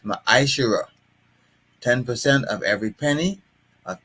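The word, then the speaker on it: מעשר: And it means tenth in the Hebrew and is pronounced ma'ashera.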